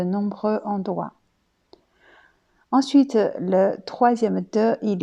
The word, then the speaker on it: 得: Troisième prononciation de ce de est dei. Dei, aussi, c'est un verbe qui veut dire devoir, avoir besoin de faire quelque chose.